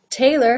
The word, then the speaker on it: tailor: Tailor has the A as in say diphthong and the second syllable, lur, lur, again without a real pure vowel sound in there.